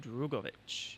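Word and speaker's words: Drugovich: So um so Philippe Drovich or Drovich drop a syllable. Um Filipe Dugovich he uh he steps in uh for FP1.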